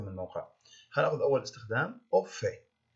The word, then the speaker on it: au fait: هناخذ أول استخدام au fait. On doit prononcer le T final ici.